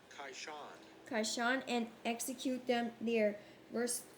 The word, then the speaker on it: Kishon: How to pronounce Kishon. Kishon, and execute them there.